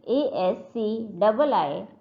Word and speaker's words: ASCII: ASCII codes written as ASCII and it is pronounced as ASCII.